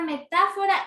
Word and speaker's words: metáfora: lo correcto porque porque la sílaba tónica es ta porque es tónica mía aquí tenemos la tilde y porque tiene mayor fuerza de voz está entonces esta sílaba ta es antepenúltima es la antepenúltima de toda la palabra y cómo es la